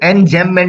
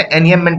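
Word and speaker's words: enjambment: Figure of speech, figure of speech में एनियममेंट, इसे एनजेममेंट नहीं पढ़ते, एनियममेंट पढ़ते हैं, ये जे साइलेंट रहता है, ठीक है।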